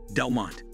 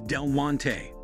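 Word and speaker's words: Del Monte: When it comes to pronouncing Delmonte, a great number of people split it into two syllables instead of three. This changes the pronunciation from Del-mon-tay to Delmont. Notice the difference once again, the correct pronunciation is Del-mon-tay.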